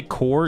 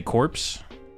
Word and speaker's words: Corps: Wait, do you say core? Even though shout out to the Marine Corps for making it to the 250th birthday. It's core. What' I say? Corpse. Core. They just don't spell it core. It's core.